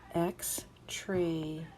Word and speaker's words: extraneous: So this is E, extraneous, and the O-U-S, I happen to know that the us ending that makes words into adjectives is pronounced with the 4th sound of the O-U, ow, o, oo, So it is extraneous, extraneous.